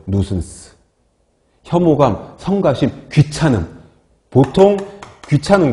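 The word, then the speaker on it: nuisance: 뭐냐하면 거기 나와 있죠 성가심이나 불쾌감 뉴슨스라고 읽어요 뉴슨스 혐오감 성가심 귀찮음 보통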